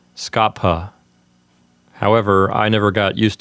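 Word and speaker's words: scapha: word skaffa technically speaking in classical pronunciation you're supposed to pronounce the P here as a hard P so this word is supposed to sound like Scapa however I never got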